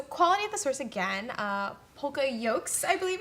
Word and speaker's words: poka-yoke: PokaYokes, I believe it's pronounced, That's right?